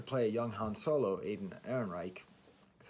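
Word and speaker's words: Alden Ehrenreich: And going back to the Star Wars thing, the actor who they cast to play a young Han Solo, Aiden Ehrenreich, that's how you say his name, he was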